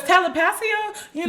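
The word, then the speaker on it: Telepatía: No, because telepathia, that's how you say it. I didn't want to offend people by saying it wrong, so I just said Fuck y'all, because put out, correct me in the comments.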